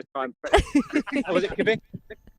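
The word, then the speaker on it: Kvikk Lunsj: So tell us how it's pronounced in Norwegian. I'm not even going to try and... Was it Kvik? Vik lunch, apparently.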